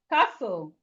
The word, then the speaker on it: castle: So we have castle, castle. We have castle, castle. The T here is silent. In fact, the T is silent. So we have castle, castle. The T in castle is silent.